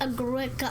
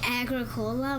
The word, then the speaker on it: Agricola: Agricola. I keep calling it Agricola, but it's Agricola. I mean, that's how it's spelled. It's how it looks.